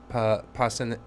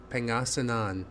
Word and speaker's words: Pangasinan: out to Balinao and was that Panasingan? I'm saying it wrong. Pangasinan, maybe that's right, and Alaminos for like the 100 islands.